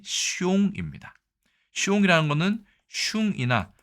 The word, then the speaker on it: 凶: 재밌는 거는 이 흉할 흉자의 중국어 발음이 숑입니다.